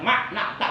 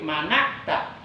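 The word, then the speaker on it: مَنَعْتَ: Perhatikan kalau ada yang baca makna'ta itu salah besar. Tolong dikasih tahu biar benar bacanya. Sebab memberi tahu bacaan yang salah supaya benar itu juga ibadah, menunjukkan kepada kebaikan. Jadi bukan makna'ta tapi mana'ta.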